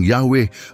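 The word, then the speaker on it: Yahweh: tetragrammaton o y wh karaniwang binibigkas bilang yahwe at isinasalin bilang panginoon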